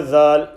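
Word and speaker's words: ذ: Letter dhal, pronounced just like letter tha, when the tip of the tongue touches the edge of the upper front two teeth, the central incisors.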